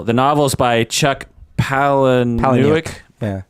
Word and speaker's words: Palahniuk: The novel is by Chuck Palahniuk. Yeah. How do we pronounce it? Palahniuk? I believe it's Palahniuk.